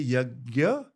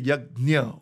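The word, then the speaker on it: यज्ञ: So firstly, you can say yagya, you can say yagnya also. Because it's Sanskrit, it's nya. So people, some say yagya, some say yagnya. I say yagya just because it's easier to pronounce in English. But in Sanskrit, if you were speaking in Hindi, I would say yagnya.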